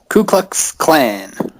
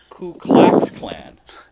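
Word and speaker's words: Ku Klux Klan: Ku Klux Clan. Apparently, you're supposed to say K Clax Clan.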